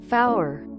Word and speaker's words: five: getting them mixed up 0 one tree F pronounced like sour five 2 6 7 and